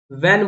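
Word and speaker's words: when: जैसे कि what, वैन, वैन बोलते हैं, वहन नहीं बोलते, वैन।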